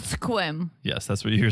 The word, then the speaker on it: Sequim: Mike from 90 day lives this is called Sequim yes that's what you're saying I said Sequim Sequim that's how they spell it um sequence sequence really it looked like